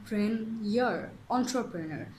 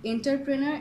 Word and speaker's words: entrepreneur: plan okay that's a very good idea but pronunciation ENT entrepreneur it's not enterpreneur it's ENT so our first word is c